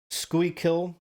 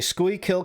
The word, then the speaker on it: Schuylkill: School, Schuylkill County, Schuylkill. Yeah, that's as close as I'm going to get, so let's just go with that. A Schuylkill County family made a disturbing discovery when they decided to insulate their home.